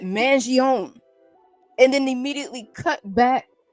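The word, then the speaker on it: Mangione: the the media we've heard his last name pronounced by his family as being Manon but the media keeps calling him Manion well there are certain pockets of the media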